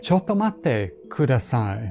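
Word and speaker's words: ちょっと待ってください: say Chotto matte couldasigh Imagine Corey again this time he's waiting for his ramen to come but he's so hungry he has to eat his chocolate toes. Marty mcfly has joined him for lunch but again he's waiting so long he could give the biggest sigh you've ever heard Eventually of course it's time to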